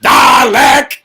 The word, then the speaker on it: Dalek: It is pronounced Dalek.